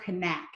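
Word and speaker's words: Knaack: is one person called Holger connect is how you say his last name Connect he is from Germany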